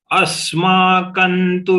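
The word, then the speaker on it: अस्माकं: Asmakantu vishishtaye tanni bodhadvijottama. Nayaka mama sainyasya saidnyarthan tan bravimite. Asmakan tu vishishtaye. Here the anuswar of ka has to be pronounced as na, n, but all small.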